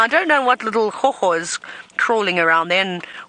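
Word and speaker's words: gogga: So hoho is a word we use in South Africa for insects. It's a strange word. Hoho. G-O-G-G-O. Hoho. That's how you spell it, right, Senzo?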